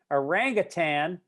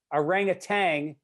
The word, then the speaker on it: orangutan: from last week apparently orangutan an actual animal orangutang is a powdered drink preferred by four out